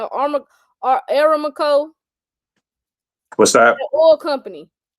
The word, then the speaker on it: Aramco: I don't know how to pronounce it. ARAMCO. I know. What's it called? Aramco, what's that?